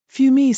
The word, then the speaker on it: Fumi: out let me guess fumi sounds like fumes ah smoked Bon she